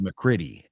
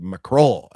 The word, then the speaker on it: McCroy: Uh, this movie also stars a gray van that was also once driven by William McCroy, and it's not pronounced McCritty. It's pronounced McCroy.